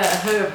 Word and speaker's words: herb: and then another Christmasy herb as the American say I don't know why they don't pronounce the h it's a her Sage go ready if